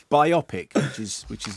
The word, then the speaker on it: biopic: you say that how do you say biopic biopic exactly exactly thank you very much there we go thanks Eddie thanks for coming in anyway biopic now this sounds like cut song away you're